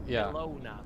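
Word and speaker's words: Kelowna: Of course, it's pronounced Kona, but it's Colona.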